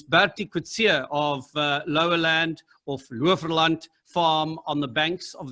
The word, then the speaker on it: Loverland: Is the correct pronunciation of the farm Lowerland or Loverland? No, it's an Afrikaans word, actually, Loverland. So, lover means like lush green fields, and land is obviously land.